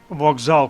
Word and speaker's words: вокзал: але вимовляємо звук д вокзал пишемо через K але вимовляємо звук Ґ просьба через S але